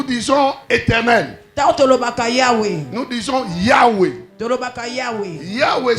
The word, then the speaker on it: Yahweh: Yahweh c'est Y. H. W. H. Il n'y a pas de voyelle.